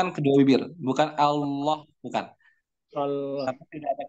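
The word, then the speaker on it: الله: Lafaz Allah dibaca tebal ketika sebelumnya berharokat fathah atau sebelumnya berharokat dhammah. Contohnya Allah, di sini harokat sebelumnya fathah. Huwallah, huwallah. Sebelumnya berharokat fathah. Ayatullah, perhatikan harokatnya dhammah. Ayatullah. Nah, dan Rasulullah. Rasulullah. Di sini dibaca tebal.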